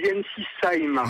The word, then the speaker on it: Ensisheim: Vous êtes à Ensisheim, dans le Haut-Rhin, tout à fait. J'ai bien prononcé? On dit Ensisheim, voilà.